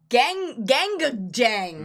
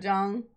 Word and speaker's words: GANGgajang: GANGgajang.